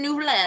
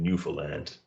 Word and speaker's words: Newfoundland: else newfoundland i'm like you don't pronounce the ds there's no d's in newfoundland katie we say it